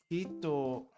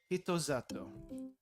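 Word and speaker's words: 人里: Hito-sato, I think? No. Zato. Another weird thing with pronunciation. Sa becomes za, and the su becomes elongated. So, zato. Zato. Hito-zato.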